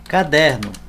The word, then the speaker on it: caderno: Caderno. Ó, caderno. A sílaba tônica é o der.